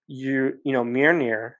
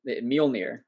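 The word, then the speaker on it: Mjölnir: And I thought unworthy was kind of a cool word or a cool way to look at it, because Mjolnir, you can become unworthy of that.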